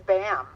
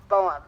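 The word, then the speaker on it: Boehm: with the the name it's spelled b OE hm but it's German and I was informed by Jackie that it's it's bam not boam as I would have called it so anyway um this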